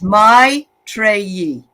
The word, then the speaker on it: Maitreyi: Okay, it's my Treyi. My Treyi, she says. Thank you, dear. Or May Treyi.